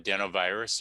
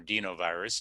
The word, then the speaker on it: adenovirus: two vaccines use another virus it's called an adenovirus or dinovirus depending upon your pronunciation where you're at in the world and